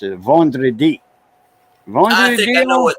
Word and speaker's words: vendredi: got it spelled, but I know how to pronounce it, vendredi.